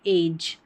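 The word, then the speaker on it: edge: आएगा तो वहां पर जी ई को ज पढ़ते हैं। जैसे कि एज एज तो यहां पर ई जो है ना ये जी ई लास्ट में रहेगा लेकिन इ यहां पर साइलेंट रहता है।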